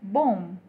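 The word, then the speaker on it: bomb: अगला वर्ड है बी ओ एम बी, हम इसे बोलते हैं बॉम्ब, पर इसकी करेक्ट प्रोनाउंसिएशन है बॉम्ब, इट्स बॉम्ब, B silent है।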